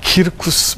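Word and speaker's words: circus: 그 중에서 가장 대표적인 경기장이 키르쿠스 막시무스였습니다. 자, 키르쿠스는 스펠링이 C-I-R-C-U-S입니다. 영어로 읽으면 어떻게 돼요? 서커스죠.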